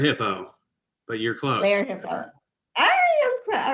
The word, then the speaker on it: Lerer Hippeau: Lerer Hippeau.